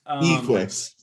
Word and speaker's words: Equix: You pronounce Glad it you had that Equix. Equix.